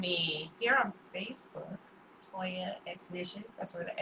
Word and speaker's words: Exnicious: Yes, so Toya X Nishes, that's EXNICIOUS. It's actually pronounced just like it's spelled.